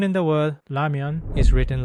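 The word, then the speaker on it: 라면: It may seem similar to the English L or R, but if you listen carefully to how Koreans pronounce it, you'll notice a clear difference. This Korean consonant is pronounced with the tongue in almost the same position as the English L. In English, the L sound is made by pressing the tip of the tongue against the ridge, where the gums meet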